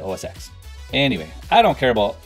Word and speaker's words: OSX: And yeah, I'm pronouncing the X in that name because, well, it's a proper name, and pronouncing it OS 10 could potentially infringe on copyright. So they must pronounce it OSX.